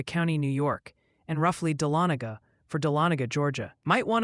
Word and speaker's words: Dahlonega: Also, Ryan, the Georgian delegation and some New Yorkers have politely requested a pronunciation update. It's Tioga for Tioga County, New York, and roughly Dahlonega for Dahlonega, Georgia.